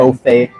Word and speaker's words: Beaufait: Beaufait. There we go. You gotta add Beaufait. Add a little wee on it, you feel me?